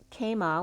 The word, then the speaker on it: kama: up for me was kama which is in sanskrit love it's k-a-m-a with a long a k-a-m-a which is very